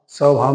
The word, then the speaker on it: स्वभाव: नहीं है ठीक है ऐसे ही स्वभाव स्वभाव में भी उ नहीं होता लेकिन उच्चारित हो रहा है उसकी होने की